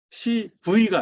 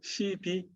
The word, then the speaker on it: CB: 제가 발음이 좀 영국식이라 그런데 CV가 아니고요. CB. 예. ABC 할 때 C와 그 다음에 AB 할 때 B, CB라고 하는데 컨버터블 본드라.